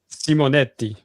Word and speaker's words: Simonetti: Simonetti.